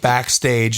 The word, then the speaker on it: bkstg: while back there was a new startup called backstage and it's it's spelled bkstg kind of like the short text